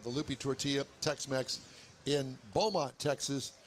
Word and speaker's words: Beaumont: Don't pronounce it Beaumont. Beaumont. It's Beaumont. Beaumont. Yeah, you kind of say it out of the side of your mouth.